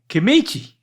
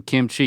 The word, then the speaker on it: kimchi: it an I then you made it an a kichi you're still adding you're adding a vowel in the middle there's no there's it's only two syllables and this is good